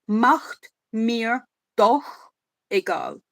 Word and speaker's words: macht mir doch egal: He does actually not bad with the CH, because in German CH is a it comes from the throat. So it's macht mir doch egal.